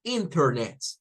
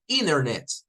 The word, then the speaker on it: Internet: Entonces, en una pronunciación estándar, diríamos Internet, International, Center, con la la T. Pero en la pronunciación estadounidense, vamos a encontrar que esto lo dicen como Internet, como que fuera la N nada más sin la T.